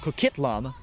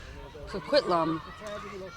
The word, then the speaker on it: Coquitlam: I believe I'm pronouncing it correct, Coquitlam. Coquitlam.